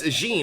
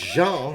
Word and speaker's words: Jean: This Gene runs the bakery in town, and this Gene is actually French. It's Jean, you know, it's Jean. We got a French Gene.